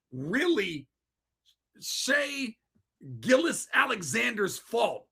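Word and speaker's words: Shai: Shane Gilgeous-Alexander. Shane Gilgeous-Alexander, whatever. But they call him Shea, right? No, I'm kidding. Shea Gilgeous. His name's Shea Gilgeous.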